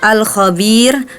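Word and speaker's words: الكبير: tafhim dibacanya kemudian di ayat ke-14 itu alkabir harusnya tarqik kenapa padahal huruf ro yang terakhir itu berharakat dumahain ya harusnya kan tafkhim Ya karena huruf sebelumnya itu ada huruf ya yang di Man yang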